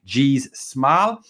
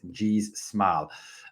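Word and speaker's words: Gijs Smal: those Players whose name is very hard to pronounce and I'll mess it up G smile is his name yes that's right gz smile uh not easy to say not easy to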